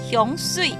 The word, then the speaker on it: 香水: How do you say perfume? 香水。香水 Okay, that's how you say perfume in Hakka.